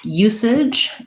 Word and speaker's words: usage: The letter U has two sounds here. It's the U glide, just like the word you. We have first syllable stress in usage. And then our AGE just says the ij sound. So an I and a j sound.